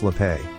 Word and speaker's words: Slappé: It's pronounced Slappé, thank you.